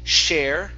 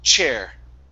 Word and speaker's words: chair: Instead of share, it's chair. Chair. Chair. Good, good. Yes. People from Venezuela and Colombia have the ch problem. Okay. Yeah. And also those from Chile. It's hard to pronounce that ch. So yeah, just remember, it's a puff of air and then it stops.